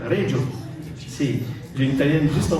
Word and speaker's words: Reggio: C'est comme ça qu'on le prononce? C'est à l'italienne, Reggio.